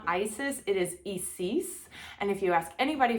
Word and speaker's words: Isis: And that is because the I is pronounced as an E. Her name is Isis.